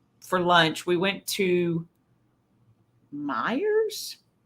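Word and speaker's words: Meijer: lunch we went to Meyers I believe it's how you say it m j e Mayers Myers it's is there like an Oscar Meer wiener I think so I think it's like Meyer um it's it's a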